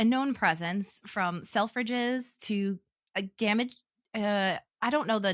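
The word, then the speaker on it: Gamages: I want to say games, but that sounds awful and I don't think that's how you say it because I'm not British.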